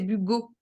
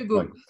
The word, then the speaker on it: Bugault: Alors, je voulais juste préciser que mon nom, c'est Bugo. Hugo, Ça je se prononce m'excuse. Oui, Bugo.